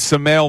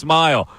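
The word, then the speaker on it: Smael: I thought it was Sale Mondon. That's what I thought it was. Sale Mond. But he said pronounced Smile.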